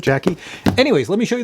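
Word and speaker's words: JAKI: It says J-A-K-I, so Jackie. Maybe that's how you pronounce it, Jackie.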